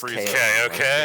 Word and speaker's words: Kaio-ken: This movie was the first to pronounce Kaio-Ken correctly. Yeah. Because of the TV show. Oh, yeah, it was Kaio-Ken. They called it I Kaio-Ken.